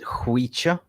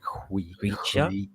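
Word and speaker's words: Khvicha: But, if we get Chvicha into Manchester, everyone's going to learn his name, like Chvicha? Say it again. Chvicha. You got like you spitting. Chvicha.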